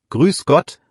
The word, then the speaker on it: Grüß Gott: « Grüß Gott » a un Ü court.